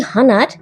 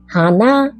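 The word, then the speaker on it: 鼻: নাক হানা হানা এই হানার আরেকটাও মানে হয় ফুল তাই না তবে দুটোর উচ্চারণ কিন্তু সমান নয় নাক হচ্ছে হানা আর ফুল হচ্ছে হানা আরেকবার বলি নাক হানা ফুল হানা মুখ মানে মুখ গহবর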